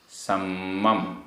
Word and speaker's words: सम्मम: सम्मम, आधमा पूरमा, सम्मम।